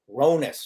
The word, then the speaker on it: Hronas: of Philadelphia um Yani ronus so my pronouncing your last name right yes which is silent right there's an imaginary e or a silent h I really want to